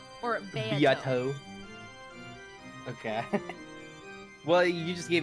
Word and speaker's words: Beato: It's pronounced Beato. Or Beato. Beato.